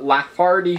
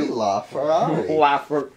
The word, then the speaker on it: LaFerrari: Alright, let's try and get the Lafardi Ferrari. What did you just say? He said Lafardi Ferrari. I think I majorly mispronounced that.